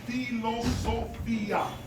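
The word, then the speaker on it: φιλοσοφία: What was commonly known is that the word philosophy comes from the original Greek word philosophia. Phil philosophia which is this which in original Greek is pronounced as philosophia or in even more ancient times palosopia or pelosopa.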